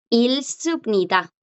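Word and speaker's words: 읽습니다: Si yo lo escribo en modo formal, ilsubnida. Tampoco suena porque a la G le está chocando la consonante que le sigue, le está bloqueando.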